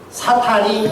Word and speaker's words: 사탄: 소개되고 있는 것입니다 성경에는 사탄이 어떻게 해서 사탄이 되었는지를 소개하고 있는 본문이 나옵니다 사탄의 기원에 대해서 나옵니다 우리 손보경 권사님은 사탕이라고 하죠 사탄 발음을 잘해야 되죠 이 사탄의 기원이 에스겔서